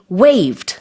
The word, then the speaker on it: waive: will be waived.